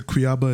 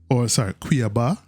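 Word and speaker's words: Cuiabá: So Cuiaba is such an exciting, Cuiaba, I think that's how it's pronounced.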